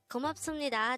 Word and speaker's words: 고맙습니다: But take note that this is pronounced as sum instead of sup, because the biup character is followed by a nian character on the next syllable.